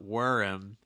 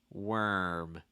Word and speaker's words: worm: worm really quick um what you want to watch out for um is not to add a vowel sound in between the r and the m so it's not worm it's not worm it's worm worm you also want to compare for instance worm versus warm worm warm worm warm